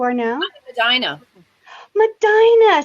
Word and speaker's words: Medina: Medina. See, you pronounced it correctly. It's not Medina, like everybody wants to say. It's Medina.